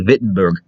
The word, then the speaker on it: Wittenberg: i've learned of german germans usually pronounce the w with a v sound so i'm going to say wittenberg and he was a